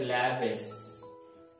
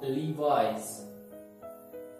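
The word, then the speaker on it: Levi's: Next one is हम इसे पढ़ते हैं लैविस कई बार, राइट, लीवाइस लीवाइस।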